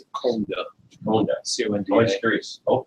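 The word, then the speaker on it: Coandă: How much of it's Fonda, but we would pronounce it Conda.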